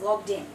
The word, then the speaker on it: logged in: we logged in and we say it like this logged in okay we put the stress on the n and it's basically like one word we logged in merge